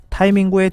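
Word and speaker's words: タイミング: 한국 사람은 영어 원래 소리에 근접하게 타이밍이라고 하지만 일본인의 표준 발음은 타이밍구입니다. 타이밍은 어떤 일을 할 때 가장 좋은 시기나 효과가 가장 크게 나타나는 시의적절한 순간을 뜻합니다. 일본에서 C19 감염증 확산이 날이 갈수록 심해지면서 타이밍구의 둔감한 정치 지도자라는 낙인이 스가 총리에게 찍히고 있습니다.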